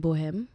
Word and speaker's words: Bohem: So the album Bohem, am I saying it right?